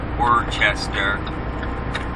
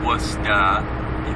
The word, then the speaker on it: Worcester: wora Massachusetts so uh I'm sure those abroad would pronounce it Worchester but it's Worcester or wora you're from here I